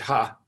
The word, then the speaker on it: He: i believe it's pronounced dr ha it looks like he but they pronounce it ha and dr ha used